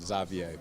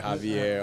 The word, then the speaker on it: Xavier: So it would be Xavier here, but it's part like French, part Flemish, so that's why they pronounce it Xavier. But I can see why people always call me Xavier, Javier, all these other things.